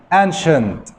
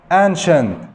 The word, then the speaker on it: ancient: قال لك كمان إذا جاء بعدها إي أو آي أو واي زائد حرف متحرك من الفاولز تنطق شه. مثال ancient، ancient قديم، سي بعدها اي وبعدها حرف متحرك.